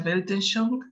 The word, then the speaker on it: Weltanschauung: Creo que es así, no estoy muy segura, se pronuncia Weltanschauung, que básicamente es visión del mundo.